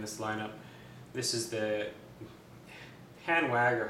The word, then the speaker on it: Hanwag: This is the Hanwag, or Hanwag if you want to say the German pronunciation.